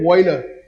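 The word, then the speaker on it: Wöhler: अगर सही प्रोनाउंसिएशन है तो फ्रेडरिक वॉयलर, पर उसको आपने मेरे साइड से याद करना है।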